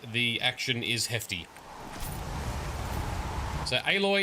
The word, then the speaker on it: Aloy: action is Hefty so aloy equals alloy silence equals silence that's the correct pronunciation okay let's save the